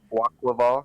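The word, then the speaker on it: Quaquaval: Quackwaval, because it's aqua.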